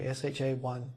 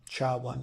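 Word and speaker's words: SHA-1: message digest function is sh one you might hear sha1 sh one is how it's pronounce and that is 160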